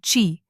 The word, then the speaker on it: qi: According to traditional Chinese medicine, our body contains a vital life force called qi, pronounced qi.